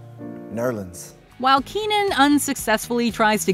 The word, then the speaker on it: New Orleans: piles on the self-praise jazz was born in new orleans or as it's correctly pronounced nerlins while keenan unsuccessfully tries